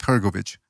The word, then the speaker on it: Hrgovic: Hrgovic. You're about Hrgovic. Hrgovic, yes. Somebody in the chat room wanted to ask you about Filip Hrgovic.